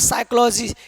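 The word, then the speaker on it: psychologist: अगला रूल क्या कह रहा है? कि एन एस टी से पहले पी हो तो पी हमेशा क्या रहता है? साइलेंट इसको पढ़ेंगे सूडो क्योंकि यहां पर एस है और एस से पहले पी है तो पी क्या हो जाएगा साइलेंट हो जाएगा क्योंकि यहां पर एस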